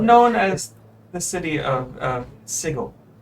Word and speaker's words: Sigil: Known as the city of Sigil. Sigil. Seagull? Sigil. Like sigil, like something as a rune or something like that, but pronounced differently.